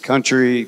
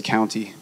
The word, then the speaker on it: Countey: understandable since first grade country courtney county it's county ey so if you're looking for me and you're looking at us say my name please say county okay and the reason